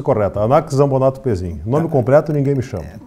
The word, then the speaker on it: Anax Zambonatto Pezzin: Essa é a pronúncia correta, Anax Zambonato Pezin.